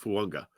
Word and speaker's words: Fuaga: Fuaga is pronounced Fuanga.